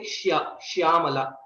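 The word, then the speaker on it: श्यामा: We don't say Shyamala. Okay. And also Neelam Megha Shyama. Krishna is also called Shyama. It is not Sha, it is Shya.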